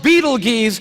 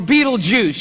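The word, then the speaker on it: Betelgeuse: heard about this star it's called Beetle geese or Beetlejuice you can pick your pronunciation I'm obviously going with Beetlejuice and Beetlejuice is incredible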